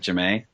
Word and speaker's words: Jamie: Yeah, that's Jamae, yeah. spelled Jamie, like Jamie, but she pronounces it Jamae.